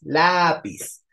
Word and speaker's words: lápiz: Ortiz Cuéntame la palabra lápiz lápiz es grave Sí porque tiene tilde en la penúltima según su terminación lleva tilde o no Exacto lleva el acento en la a lápiz y eso es porque termina con z O sea la terminación no